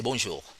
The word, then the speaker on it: bonjour: hello to say hello normally we say bonjour there's no end actually we're not pronounce the N that's a nozzle sound oh so this spelling